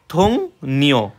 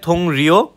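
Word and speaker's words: 동료: এরপর যদি আরেকটা সার্চ দিই আমি, ধরেন সহকর্মীর ইয়াটা কি থং নিও হবে থং রিও, কিন্তু উচ্চারণ হবে থং নিও, ঠিক আছে।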